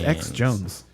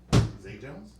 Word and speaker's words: Zay Jones: What is X Jones? Zay Jones? Spelled with a Z.